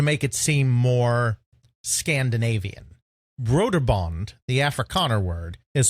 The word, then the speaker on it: Brøderbund: They made it sound more Scandinavian by going Brøderbund, Bund. And then they represented the OE with a null O, essentially, which is something that's used in Danish. Not Swedish, but in Danish, where you put a slash through the O and it changes the pronunciation. It's kind of similar to the umlaut in German. It kind of changes it to that OE sound, that Ü sound.